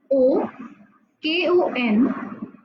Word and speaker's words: Okonkwo: I will spell it for you. O Konkwo.